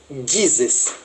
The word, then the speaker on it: Jesus: O som não é o mesmo. Pode se escrever da mesma forma. Porém, nos Estados Unidos, a letra J tem um som de D.